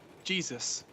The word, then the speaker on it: JSUS: He's now going to be called Jesus, because his name is JSUS.